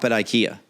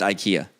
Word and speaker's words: IKEA: I have to know do you sh at Ikea yes is it pronounced Ikea yeah you hesitated that means I was just